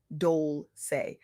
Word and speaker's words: Dolce: I'm your host, Dolce, pronounced Dole, like sweet softness whispered in French.